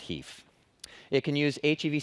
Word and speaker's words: HEIF: with the spec so the Finnish pronunciation should win that would be the 1% hafe well as for me and my floor we're gonna call it Heath it can use HEV